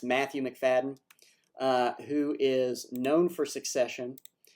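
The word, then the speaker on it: Macfadyen: But this does involve the TVA, and I will say, because he's in the trailer, I believe he pronounces his last name McFadden, but it's Matthew McFadden, who is known for Succession and is just an absolutely, to me, brilliant actor.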